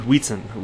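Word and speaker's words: Wietse: And by the way, the only reason I know how to properly pronounce Wheatson is because I heard him say it himself in an interview a couple months back. So I'm confident I'm saying Wheatson correct.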